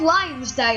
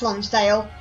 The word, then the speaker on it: Lonsdale: a line on the logo and the called Lions day oh boy it's pronounced Lonsdale that made sense but now we found out